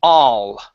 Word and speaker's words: all: Open up your mouth just a little bit more. Instead of saying or Okay, move your tongue forward in your mouth. Okay, drop it down a little bit making space for the A. Instead of all, it's all all year round.